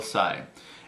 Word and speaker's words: Tsai: from uh from will Sai and I really hope I'm pronouncing it right it's TS AI normally the t is silent so I hope I'm